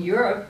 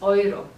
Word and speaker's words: Euro: cost and of course you know that in Europe we use the oil right it's pronounced oil not euro so somebody if you see that